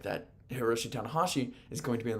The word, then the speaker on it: Hiroshi Tanahashi: It is Heromu Takahashi and Hiroshi Tanahashi. That's the difference.